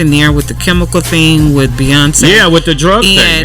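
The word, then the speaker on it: Beyoncé: I'm gonna need her to learn how to say her name, Beyonce, honey. Beyonce. Not Beyonce or Beyonce or whatever she was saying.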